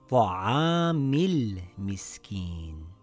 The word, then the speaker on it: طَعَامِ ٱلْمِسْكِين: Now, when we read it together, we drop the Hamzatul Wasl. It now reads Ta'amil Miskin.